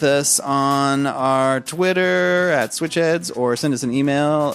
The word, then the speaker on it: Switch Headz: We pronounce the Z. It's a hard Z.